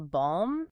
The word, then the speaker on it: balm: They shoved a C into indict and an L into balm, and they had absolutely no intention of changing the pronunciation. We still say them the French way, but they permanently altered